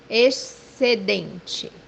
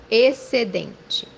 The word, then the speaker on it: Excedente: The example that we have here, the word surplus, which means in Portuguese Excedente. Excedente. As you see here, the digraph XC is pronounced as S.